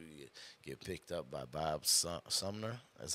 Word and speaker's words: Bob Sumner: to watch you you get picked up by Bob Sumner that's how you say his name that is